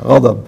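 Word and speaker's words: غضب: গজব বাংলায় আর কি, গজব আরবি, দদ রে আমাদের দেশের লোকেরা জদ উচ্চারণ করে সেই জন্য।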